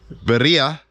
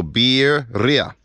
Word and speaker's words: birria: product which is the Berea or properly pronounced you say the word beer and then Ria so beer Ria I got corrected by